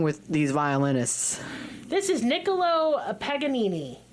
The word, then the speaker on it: Niccolo Paganini: This is Niccolo Paganini. Sounds like a sandwich. Oh my God, I would eat a Niccolo Paganini right now.